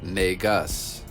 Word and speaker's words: Negus: Also, this word originated in Ethiopia also. It was pronounced Negus, spelled N-E-G-U-S.